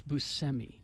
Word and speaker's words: Buscemi: trivia oh semi Buscemi we all say it wrong I know it's Buscemi uh let's see his